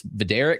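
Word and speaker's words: Vidorek: And you told me you got the pronunciation guide. It's Vader.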